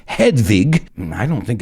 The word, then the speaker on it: Hedwig: born in vienna austria her real name is hedwig which if you want to pronounce it correctly it's hedvig i don't think it's